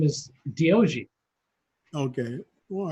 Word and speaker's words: D-O-G: If you say it quick, it's Diogi. Diogi.